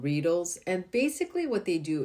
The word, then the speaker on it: Reedle: these spicule needles called Reedles. And basically what they do is they create microchannels into your skin for better absorption. So they call it Reedle. I think it's supposed to rhyme with needle because it's not really